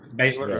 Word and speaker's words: Baszler: Baszler.